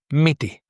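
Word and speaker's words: μύτη: But they are both E, so now it's miti, and there would be no difference in pronunciation if you wrote it with any of the other E's.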